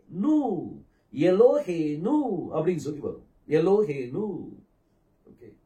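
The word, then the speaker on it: אלהינו: அப்ப அது உ அப்ப உவையும் நூனையும் சேர்த்தீங்கன்னா என்ன உச்சரிப்பு வரும் நு எலோ ஹே நனு எலோஹேனு அப்படின்னு சொல்லி வரும் எலோஹேனு ஓகே ரெண்டையும் மூணையும் சேர்த்தீங்கன்னா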